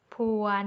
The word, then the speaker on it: ผวน: ว่า เด็ก เสิร์ฟ มี ผัว น เอา คำ นี้ ขึ้น ต้น ด้วย พ อ๋อ พึ่ง อ่าน ว่า ผวน ไม่ ใช่ พวน นะ คะ หมาย ถึง หวน กราบ